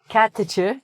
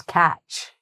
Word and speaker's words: catch: So "cat-tuh-chuh" becomes "catch".